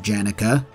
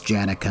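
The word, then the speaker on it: Janeka: language it would be yanuka uh but they pronounce it janica so it's janica I guess these new wardens claim to want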